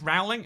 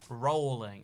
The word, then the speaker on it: Rowling: could a whole country but like it's it's rowling and she says it's rowling and then people are like rolling and it's like r-o-w-l rao ling it's it's